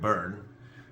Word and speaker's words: Byrne: oh by the way for those of you mispronouncing his name the uh Overstock CEO is Patrick Byrne um brilliant brilliant guy